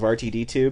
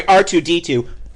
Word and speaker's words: R2-D2: Um my question is, are you only thinking about the fact he just said RTD2? He mispronounces things all the time. I just drown it out. Uh my question is how did Sorry, R2-D2.